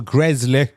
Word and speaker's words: Gresley: The Grizzly Castle. Gresley Castle. Am I saying it right? Is it called Castle Gresley? Gresley, yeah, not Grizzly.